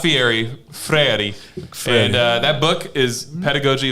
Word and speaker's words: Freire: Freire. Not- That's how he actually Yeah, pronounced no it.